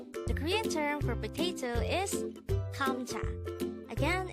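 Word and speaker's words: 감자: term for potato is hamcha again it's kamcha this is pronounced as a two-syllable word the first syllable is gum the second syllable is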